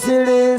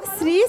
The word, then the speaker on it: শ্রী: ঠিক করে বলো, শ্রী শ্রী। ঠিক করে উচ্চারণ করো।